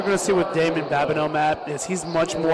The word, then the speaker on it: Babineau: Yep, Babineau. Babineau. I wanted to make sure I pronounced that correct.